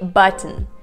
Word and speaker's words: button: So the word button, you don't really say button, button. You don't really say button, you say button, which means that this word now is broken down into two parts, a part but and then mm, because you don't really explicitly pronounce the sound T.